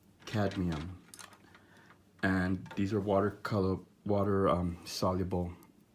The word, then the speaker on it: cadmium: It's pronounced cadmium.